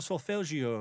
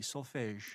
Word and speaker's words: solfège: Yeah, solfège or solfeggio, yes. How do you spell it? I'm probably not saying it all that correctly. S-O-L-F-E with an accent, I believe it's an accent grave, G-E, solfège. Solfège, yes.